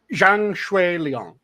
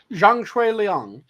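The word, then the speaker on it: Zhang Xueliang: pronounce the cantones properly the Mandarin is is Jang Leong so Jang Leong and y h CH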